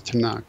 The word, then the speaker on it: Tanakh: love acrostics okay and tanak is an acrostic referring to the three traditional divisions of the old testament right torah nevi'im and ketubim and so to nook ends up just being pronounced as tanakh so that just refers